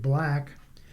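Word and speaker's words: 6LACK: The resulting album sees Sixlack, he pronounces it Black, taking accountability in his personal relationships as a major theme.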